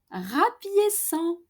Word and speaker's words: rapiéçons: Nous rapiéçons with the cedilla under the C because C in front of an O is pronounced co normally in French. And to keep that S sound of the infinitive rapiécer, we need to add that cedilla.